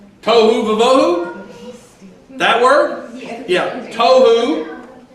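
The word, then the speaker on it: תֹהוּ: Tohu, like tofu, but tohu vavohu.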